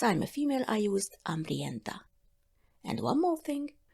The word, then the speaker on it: hambriento: As I'm a female, I used hambrienta. And one more thing, usually you don't pronounce the H at the beginning of the words in Spanish. It remains just silent.